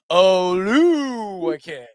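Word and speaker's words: Oluokun: Oluwakin.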